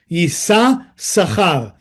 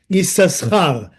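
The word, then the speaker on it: יששכר: And then Yisachar, that's why his name, even though we pronounce only the one sin, but it's written with two sin. Yisachar, Yisachar.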